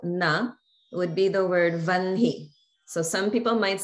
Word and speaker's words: vahni: And this is the word for fire, which we spell in English as V-A-H-N-I, but we pronounce as vanhi, vanhi.